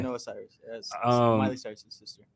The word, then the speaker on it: Noah Cyrus: You got Doja Cat, Nora Cyrus. Noah. That's Noah, okay. Noah Cyrus.